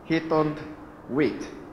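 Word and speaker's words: Haythornthwaite: Rick, how do you pronounce his name? Haytond Waite.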